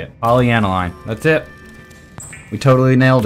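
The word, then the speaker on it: polyaniline: like is it here yeah sweet one more poly analine that's how you say it poly analine that's it we totally nailed it and it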